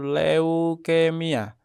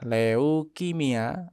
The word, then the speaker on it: leukemia: Nah, yang baku itu leukemia. Leukemia itu yang baku untuk pengejaannya. L E U K E M I A. Nah, ini tidak baku kalau pakai kimia. Leukimia itu tidak baku. Yang baku itu harus pakai e.